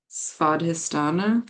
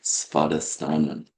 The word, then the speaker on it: Svadhisthana: So you want to pronounce the Svadhisthana. Svadhisthana.